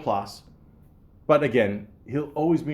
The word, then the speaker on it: Plasse: When I first saw his name, Christopher Mintz Plasse, I had to look it up, how to pronounce his name. I just assumed maybe it was French, like Plasse or something, but no, just Plasse, plain old Plasse.